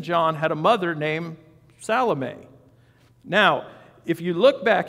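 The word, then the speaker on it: Salome: Les and Joseph and salame or you might call her salomi but salame is how you pronounce her name who also followed him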